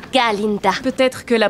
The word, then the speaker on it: Galinda: Miss Glinda, en réalité c'est Galinda.